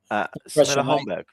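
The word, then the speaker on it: Holmberg: I'm going to pass to Ravi on this because he's our football pronunciation guru of the show. Homberg.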